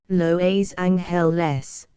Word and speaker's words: Los Angeles: beautiful says Los Angeles whatever you do don't call me Angeles laboriously em wrote her name as she herself pronounced it loa's hell less with the piece of